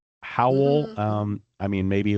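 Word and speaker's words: Hywel: Well, okay, so I'd always heard it was actually um like a truncation of Ap Howel.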